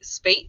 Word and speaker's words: Spate: say uh with terry spite is that how you say terry's last name it's actually spate it rhymes with wait thank you state okay